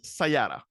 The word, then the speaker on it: Sayata: Upasana Unni, Chief Commercial Officer at, and of course, I didn't ask how to pronounce the company, at Sayata.